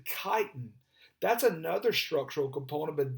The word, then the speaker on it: chitin: here at the bottom everybody wants to pronounce that that ch with a cha that's actually chitin that's another structural component